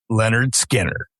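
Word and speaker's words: Lynyrd Skynyrd: Bad Company's self-titled debut album and Leonard Skinnard, pronounced Leonard Skinner.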